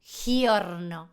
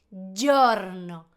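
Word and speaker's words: giorno: G con i es y. Repetí conmigo. Y. Entonces, día no es jorno, es yorno. Yorno. Para el video y declo vos. Yorno.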